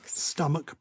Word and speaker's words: stomach: is watches batches but if the ch ending is pronounced with a k sound you just add a solitary s so that batch becomes batches but epoch becomes epochs yeah monarch becomes monarchs stomach becomes stomachs i love it i just